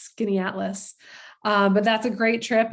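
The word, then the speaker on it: Skaneateles: And we'll of course do a boat cruise on Lake Skinny-Atlas. I bet you didn't see that coming, because it doesn't look like it's pronounced Skinny-Atlas.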